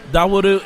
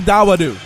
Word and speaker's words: Dawodu: Dawodu is in the center of the ring, and we'll see what happens.